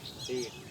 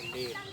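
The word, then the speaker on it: date: देखो इसमें है जब किसी शब्द में ए आए और उसके बाद कॉन्सोनेंट हो और उसके बाद अंत में ई हो, ई साइलेंट हो जाता है और ए का उच्चारण दीर्घ ये हो जाता है, जैसे डेट, ठीक है, समझ में आया,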